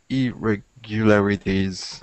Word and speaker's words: irregularities: Lloyd announced that irregularities. This stress pattern will be something later in the word, like irregularity, irregularities. Irregularities. I think the la is quite a stressed word syllable.